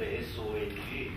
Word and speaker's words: Song: It's spelled S-O-N-G, but the proper Korean pronunciation is Song. That's Song.